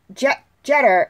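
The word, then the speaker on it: Jeter: played by Michael jester I believe it's how you say his jet jet her I believe is how you say his last name excuse me now if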